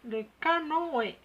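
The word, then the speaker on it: canoë: وعندنا هنا لو كانوي، لو كانوي. دونك عندنا هنا لو او اللي فيه هذا هو تريما. دونك هذا هو لو كانوي. ننطقو لو او، او سي اون فويال، لازم ننطقو لو او بلاسي دوفون لو تريما.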